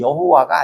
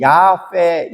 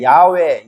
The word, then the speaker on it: 야훼: 근데 번역을 잘못했는데, 그래서 이제 그 발음이, 히브리 발음이 여호와가 아니에요. 야훼, 야훼, 야후, 뭐 이렇게 발음할 수 있어요.